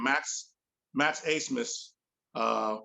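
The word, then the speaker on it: Abmas: dude's name max max asmus uh which i thought was a funny pronunciation since his name is spelled a-b-m-a-s but max a-smith he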